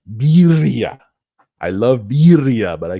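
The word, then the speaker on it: birria: I always say beria. I say it wrong. Sorry to you uh native Spanish speakers. Birya.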